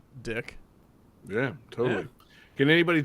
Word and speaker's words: Dyck: But, like, because there's no E at the end, D-Y-C-K, I can see how you can pronounce dick.